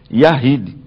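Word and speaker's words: Yachid: Se fosse unidade absoluta, seria Yahid, que nós escrevemos Yashid com CH, mas a pronúncia Yahid.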